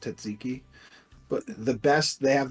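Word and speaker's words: tzatziki: never say that yeah well everybody call it's taziki but it's pronounced tziki but the best they have the best tsiki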